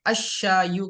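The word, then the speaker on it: الشايُ: तो जब हम उसके ऊपर अलिफ लाम लगाएंगे तो लाम को प्रोनाउंस नहीं करेंगे, अशायु कहेंगे।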